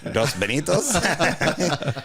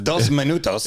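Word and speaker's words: dos minutos: bito love you guys I don't think he's saying it right dos bitos it's dos Manos is it cultural appropriation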